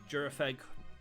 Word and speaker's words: Gyarados: got through the uh jurag that's probably the better way of pronouncing that Pokemon's name we did end up